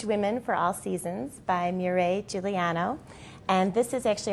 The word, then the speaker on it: Mireille: And I have to ask you, am I pronouncing your name even close to how you would say it? Yes, Mireille? Absolutely correct. I can't do the beautiful R, but I'm close.